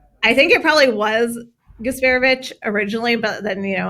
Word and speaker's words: Gasparovic: a C sound, but I'm kind of thinking gasborovich. I was gasparovic, but neither of you is correct. Nick closer, I think it probably was gasparevic Originally, but then, you know America, but it's gasparevic.